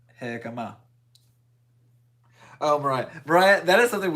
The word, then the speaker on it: jicama: love you and I want to pay you Jicama. more. Okay, yeah, I said it right. Jicama.